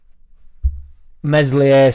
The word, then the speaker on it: Meslier: right so going up meslier silent S I honestly think and